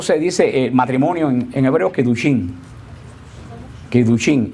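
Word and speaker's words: קידושין: Ustedes saben cómo se dice matrimonio en hebreo, Kidushin.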